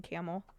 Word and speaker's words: Campbell: not from Youngstown right it's not spelled like a camel Campbell soup but omit the P and the B it's camel yeah you watch anything